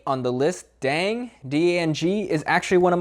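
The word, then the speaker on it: Đặng: Now, this is one where I really wish it sounded exactly as it's spelled, but unfortunately, if you want to say it correctly, it's just Dan.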